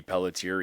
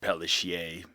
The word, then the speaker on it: Pelletier: And throughout school, my dad had me say Pelletier, even though it wasn't the correct way, because I couldn't pronounce it.